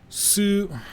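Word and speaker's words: つ: Sue. Okay. It's a consonant. Yeah, you could pronounce this as sue. The t is very soft as in uh like in tsunami.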